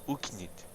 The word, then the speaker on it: Oknytt: Oknytt. Oknytt. The O is just as in not.